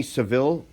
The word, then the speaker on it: Saville: You know the Jenny Saville?